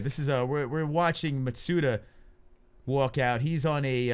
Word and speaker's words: Matsuda: here we go tateki matsuda has entered the cage over here very nice matsuda say it ma say it the way it's supposed to be said suta that's how you say it what do you think